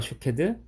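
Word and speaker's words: שוקד: 살구나무는 히브리어 발음으로 샤케드라고 하는데 지켜보다라는 히브리어 발음이 쇼케드입니다. 샤케드와 쇼케드.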